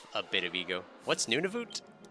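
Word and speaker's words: Nunavut: What's Nunivoot?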